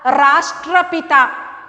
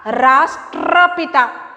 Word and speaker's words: राष्ट्रपिता: Eight ए time, टा और र, ट्रा, ट्रा, राष्ट्रपिता, राष्ट्रपिता, राष्ट्रपिता।